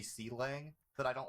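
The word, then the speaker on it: Clang: Like, I'm pretty sure Kalang is supposed to be C-Lang, but I don't like it, so I just like you don't disrespect, just like you disrespect Godot, Xavier.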